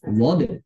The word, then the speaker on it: ض: Begitu kesimpulan pengucapan huruf dhod.